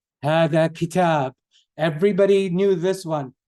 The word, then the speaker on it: هذا: Dhal, you put the tongue between your teeth. You say dhal. So everybody try with me, please. Dhal. هذا. هذا. هذا. Not like Z.